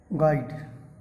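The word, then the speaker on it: guide: 75 number का question है, which letter is silent in the word गाइड, तो यू आपका साइलेंट है।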